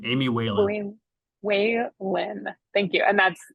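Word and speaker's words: Walen: Does somebody have that pronunciation so we can all get it right the rest of the session? It's Whalen, Representative Whalen, Amy Whalen.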